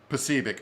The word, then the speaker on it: Posobiec: Posobiec.